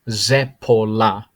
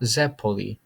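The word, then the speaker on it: zeppola: but not least this is a zepola zepola it's not zeppole zeppoli is the more commonly thrown uh word around but if you were to say the plural of zepola it's zeppole that's the correct way to say it but this is singular zepola Zep polar so that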